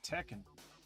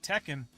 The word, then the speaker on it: Tekken: this in the name tekken i know it's spelt t e c don't don't you know what don't embarrass yourself spell t-e-k-k-e-n it's like teca you know take a man blade